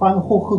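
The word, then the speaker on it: Gogh: 우리는 못 알아듣죠 반고 근데 네덜란드에서는 호흐 그래요 그 쥐가 흐 발음이 나거든요 그 호흐 얘기해요 그래서이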